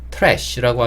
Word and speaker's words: trash: 아리 만나면 지읒 근데 지금은 티와 아리 만나면 치읓 소리를냅니다 그래서 트래쉬라고 하기보다는 조금 더 미국 영화에 가깝고요 뭐 나는 그게 조금 어색해 이런 신분들은 그냥 트래쉬라고 하셔도 큰 문제는 없습니다 편하신 대로 발음하시면 되고